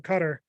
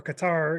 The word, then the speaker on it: Qatar: heat out there in Qatar or Qatar. You know, people pronounce it different ways. I like saying Qatar.